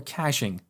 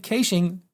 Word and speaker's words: caching: another approach is to use caching as we call it here in australia or caching as is pronounced in the united states so with caching we run a slow